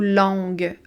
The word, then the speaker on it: longue: On a un U ici on ne prononce pas le U, mais il doit être là pour qu'on entende un G dur.